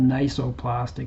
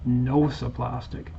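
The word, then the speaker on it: nociplastic: in my last videos it's not called nisoplastic it's called nosoplastic it's a new diagnosis started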